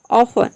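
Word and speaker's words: often: ऑफन। ऑफन में भी आप देख रहे हैं कि टी ई एन एक साथ है, मतलब कि आपको समझ आना है टी ई एन मतलब कि 10।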